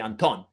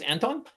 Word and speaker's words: Anton: I mean, I guess the original pronunciation would be Anton, not Anton, but I've been Anton for so long that I almost can relate to that and respond to Anton if need be.